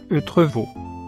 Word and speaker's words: Entrevaux: La prononciation locale est Eutrevaux.